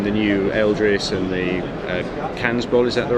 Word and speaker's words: Kansbol: knives you have, the new Eldris and the Kansbol, is that the right pronunciation?